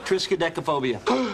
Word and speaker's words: triskaidekaphobia: Triskaidekaphobia.